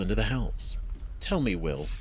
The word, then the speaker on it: Wyll: Tell me, will I'm so glad it actually is Will and not while. I've just been pronouncing it wrong.